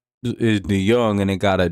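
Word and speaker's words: DeJong: His last name is DeYoung, and it got a J in it. You gotta strike him out. 1-2. That's because he got a J in his last name, but it's pronounced Young.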